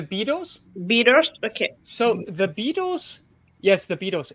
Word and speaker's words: Beatles: What is the pronunciation after by there? By the Beatles? Beatles? Okay. So the Beatles, yes, the Beatles.